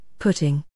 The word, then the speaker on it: putting: Pudding, puddle, putting. Putting? Yes, at golf it rhymes with shutting.